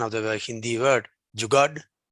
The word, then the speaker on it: jugaad: We ourselves very proudly say, I don't know the correct pronunciation of the Hindi word, jugad. Jugaad.